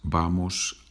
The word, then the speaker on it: vamos: The V, it's pronounced B in Spanish.